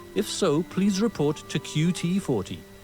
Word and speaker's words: QT40: so please report to qt40 not pronounced cutie you'll find me at